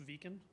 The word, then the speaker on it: Viken: Hi, Executive Vice President for Viken North America, and I assure you it is pronounced Viken. I messed it up for many years myself.